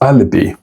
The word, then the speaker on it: alibi: Alibi which you should say as alibi.